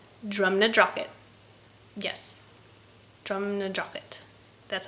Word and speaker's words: Drumnadrochit: Yes, Drumnadrochit.